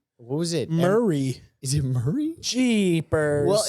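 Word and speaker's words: Maury: no it's m a r y it's it's pronounced Murray though Povich pvic Murray pvic is he polish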